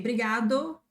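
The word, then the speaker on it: obrigado: Here it's super super common to say briado briada without the initial O.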